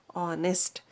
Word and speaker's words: honest: is a consonant but when you pronounce this word honest h is silent no we have we are keeping h silent and we are pronouncing it as honest what the sound you